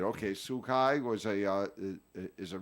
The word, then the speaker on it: Tzu Chi: I don't know um oh sukai sukai that's how you say it okay sukai was a uh is